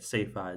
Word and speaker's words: CEFA: Also, since I don't think I mentioned it yet, Cefa, it's basically the word is spelled CEFA.